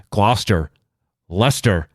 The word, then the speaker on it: Gloucester: possibly hit for uh not knowing how to pronounce the names of towns around here such as Gloucester luster situate Worcester see the fun thing is anybody